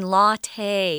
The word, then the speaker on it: latte: this word and go why are they saying latte it looks like lat in english again it's an italian word so we're pronouncing it the way they would latte so it's made with espresso